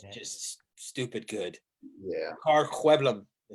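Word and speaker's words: Sjöblom: Ricard Hueblum. That's how you pronounce his last name. Hueblum.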